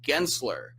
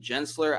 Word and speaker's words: Gensler: The company that Andrew worked for is called Gensler. I mispronounced it. I said Gensler.